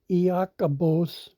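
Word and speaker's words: Ἰάκωβος: And we see this is pronounced in the Greek Iakobos, and its definition is, interestingly enough, James, meaning a supplanter.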